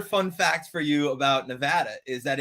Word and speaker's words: Nevada: the east coast and if you say nevada in nevada they will shoot you it is like the worst thing that it's like it's like hurts their soul when you do it to them so they're very proud of the way you're supposed to say nevada well i'm from missouri and